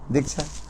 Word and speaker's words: Diksha: Diksha. But Sanskrit word, that is called Diksha. There are two syllables.